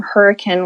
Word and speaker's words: Hurricane: So you are confirming that you're saying the word hurricane. Hurricane, yes. Like the weather. pattern.